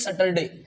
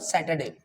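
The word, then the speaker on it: Saturday: ए Y Friday okay बहुत सारे लोग बोलते हैं सैटरडे अरे भैया सैटरडे नहीं है सैटरडे इज not okay the correct pronunciation is what सैटरडे क्योंकि एस एटी को क्या बोलते हैं आप सेट ओके और क्या बनेगा सैटरडे okay and the last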